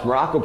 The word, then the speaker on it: Maroko: I am Coach Maroko, pronounced just like the country, spelled absolutely nothing like it.